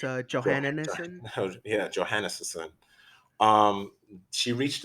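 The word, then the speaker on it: Johansson: think about it, or say her name phonetically. It's a Jo- Johannesson.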